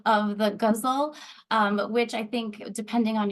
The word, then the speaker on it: ghazal: So sometimes it rhymes with muscle, and I tried to rhyme in my title.